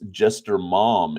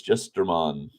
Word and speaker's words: Jestermon: I think I pronounced this Jester Mom, M-O-M, yesterday. But no, it's Jestermon.